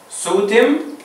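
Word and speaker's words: ⲥⲱⲧⲙ: سوتم ده النطق بتاعها. سوتم النطق لغة مصرية قديمة.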